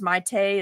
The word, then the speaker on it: Maite: It's Maite is how you say her full name, but she lets me call her May.